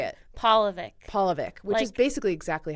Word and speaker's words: Polivick: But it's paw, like a dog's paw. Polivick. Polivick. Or like Paul from the Bible.